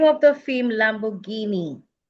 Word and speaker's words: Lamborghini: This is pronounced Lamborghini. Lamborghini.